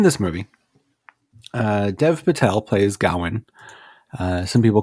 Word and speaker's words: Gawain: So in this movie, Dev Patel plays Gawain. Some people call him Garwin. Some people call him Gawain.